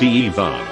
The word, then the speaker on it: Ivan: my heritage and traditions my middle name is ivan but being slavic it's pronounced evan in first grade the